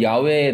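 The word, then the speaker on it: 야웨: 여호와라고 부르지 않고 원래 이제 어 이게 언제부터 이렇게 되는지 모르겠지만 제가 예전에도 한번 말씀드렸지만 오히려 좀 더 정확한 발음은 야외에 더 가깝습니다.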